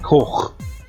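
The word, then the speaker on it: coch: Red in Welsh is koch. That bit at the end is the CH. See how weird that sounds?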